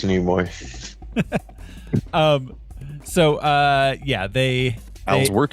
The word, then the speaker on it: Nimoy: But yeah, I know it's Nimoy. So yeah, they Al's work here is done. yeah. Al has corrected Never. a pronunciation.